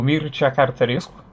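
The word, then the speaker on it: Mircea Cărtărescu: E bom, sem mais delongas, o primeiro livro do qual eu quero falar aqui é este excelente Solenoide, do Mircea Cartarescu. É assim que se pronuncia o nome dele, procurei no Google antes de começar o vídeo.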